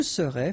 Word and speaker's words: serais: Je serais, final S not pronounced.